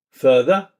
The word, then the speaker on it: further: The R in further or career is not pronounced. Hear it as further, career.